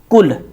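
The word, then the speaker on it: كل: जैसे एक शब्द है कुल, छोटा कै हम इसे कह सकते हैं, कै ले कुल, जिसका अर्थ होता है खाना या खाइए।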